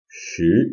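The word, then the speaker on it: 十: like to be should ten the number 10 is can you guess what tone that is second tone shoot is the number ten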